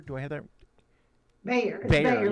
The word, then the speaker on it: Bayer: Bayer, yeah, like Bayer, of course.